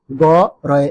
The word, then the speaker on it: গরু: হওয়া সম্ভব আমি আবারো বলছি বানান লেখার সময় গ রয় রসুকার এবং উচ্চারণ করার সময় প্রকারান্ত হয়ে গরু উচ্চারণ করতে